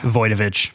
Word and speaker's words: Wojtowicz: And then I want to hear the proper pronunciation for you. On August 22nd, 1972, John Wtoich, I have Voyovich.